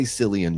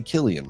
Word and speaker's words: Cillian: Don't say Cillian Murphy, say Killian Murphy, you know?